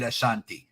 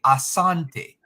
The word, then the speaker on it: Asante: slave master the British they pronounce it Ashante not the indigenous people they say Asante you ever heard the